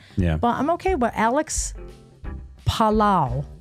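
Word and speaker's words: Palou: But Alex Palao, I looked up how to say his name. He's Spanish.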